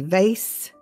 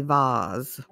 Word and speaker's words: vase: election vote vase vase in america we say vase in britain they say vaz. but we say vase for our flowers vacuum this is a